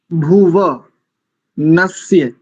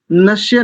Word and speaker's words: भुवनस्य: स्वस्ति भुव नस्य, नश्य नहीं करेंगे। अशुद्ध उच्चारण है नश्य और शुद्ध उच्चारण है नस्य। दोनों में, इस शब्द में भी और अगले शब्द में भी, दोनों में दंत्य सकार है।